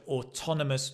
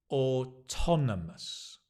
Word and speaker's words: autonomous: a different meaning so autonomous means independent again notice the stress has changed ton ton or tonus yeah slow down or tonus autonomous D or autonomous yeah